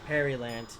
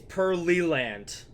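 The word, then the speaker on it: Pearland: that yes all right Perry land or wait it's pearly land oh my God it's huh it's pearly land not Perry leg please tell me the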